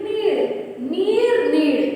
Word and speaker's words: नीड़: देखिए यहाँ भी यदि आप इसका उच्चारण कर रहे हैं तो दोनों शब्द एक जैसे लगेंगे। नीड़, तुम मेरे लिए नीर लाओ। नीड़, पेड़ पर नीड़ है, नीड़। मात्र र और ड़ का अंतर है।